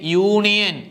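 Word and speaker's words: union: A university അടുത്തത് നോക്കിയേ യൂണിയൻ അതും അതുപോലെയാണ് യിലാണ് തുടങ്ങുന്നത് അതുകൊണ്ട് നമുക്ക് എന്ത് പറയാം എ യൂണിയൻ അതുപോലെ യൂണീക്ക് മെത്തേഡ് അതും യായിലാണ് തുടങ്ങിയിരിക്കുന്നത് അതുകൊണ്ട് നമുക്ക് അവിടെ എന്തെന്ന് പറയാംഎ എ യൂണീക്ക് മെത്തേഡ്.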